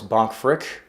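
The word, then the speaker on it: Bank Frick: investments and of course bonk frick that's actually how you say it is a custodian of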